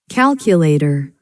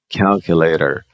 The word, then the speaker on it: calculator: Então esse O não vai ter som de O, né? Ó. Calculator. Calculator, or calculator.